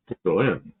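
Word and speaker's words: Citroën: Citroen. So, there are accents on the last syllable.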